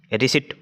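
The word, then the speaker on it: receipt: दिया है रिसीट का रिसीट और रिसीट यानी कि रसीद होती है जो इसकी करेक्ट स्पेलिंग ध्यान से करना रिसीट की स्पेलिंग इसको पहले तो रिसीट बोलते हैं रिसीप्ट नहीं बोलते रिसीट बोलते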